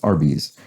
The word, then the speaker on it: Arby's: and so it's rb's r dot b apostrophe s and then phonetically pronounced that's arby's the name of the